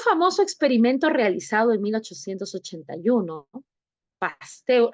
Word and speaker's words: Pasteur: En un famoso experimento realizado en 1881, Pasteur, así se pronuncia, ¿no? Pasteur, humíllenme por favor, así es, Pasteur, ¿sí?